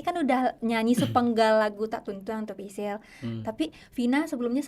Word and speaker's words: Tak Tuntuang: Oke, dengan pelafalan Minang mungkin gitu ya, Tak Tuntuang. Kalau mungkin bahasa Indonesia tak tungtung, tak tungtung gitu ya. Kalau bahasa Minangnya kan kita tak tuntuang gitu ya, Bal.